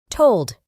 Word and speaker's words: told: En el pasado es told. Para pronunciar correctamente este verbo, debemos añadir una U muy fina después de la O.